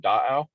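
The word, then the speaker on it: Dáʔaw: basin and surrounding valleys tahoe itself is actually a mispronunciation of the washi word da'au which means lake um and is that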